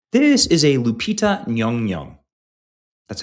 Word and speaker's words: Lupita Nyong'o: This is a Lupita Nyong'o. That's how you pronounce her name, and I hate that I just had to learn how to do that.